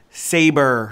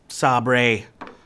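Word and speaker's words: Sabre: Spears alright and the only problem it's pronounced saber not Sabri but party in the USA is still a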